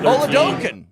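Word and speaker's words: Oladokun: what third Stringer and this is how you say his name on guys Chris Oken quarterback number Ola doen there you go you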